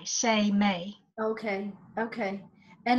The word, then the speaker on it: Seimei: me s e I am e I it pronounced sa Y Yemeni Y Seimei okay okay and it's energetic in nature it's